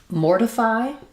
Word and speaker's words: mortify: So in mortify, we have first syllable stress. Letters OR do say the OR sound. The T is flapped, so it sounds a little more like a D. Letter I says the I sound, and then again we